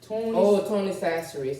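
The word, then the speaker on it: Tony Chachere's: Tony Sasseries. And they don't know how to say it. It's Tony Tony Sasseries. Sasseries.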